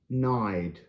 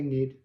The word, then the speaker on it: Nædl: Nædl. Nædl. Nædl. Y with a line wide. Nædl. You can say nid.